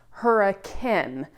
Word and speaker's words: Hurricane: that says hurricane, but in Utah, it's actually pronounced hurricane.